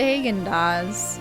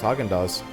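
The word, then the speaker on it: Häagen-Dazs: I've always pronounced it Hagen-Dazs. No, it's Haagen-Dazs.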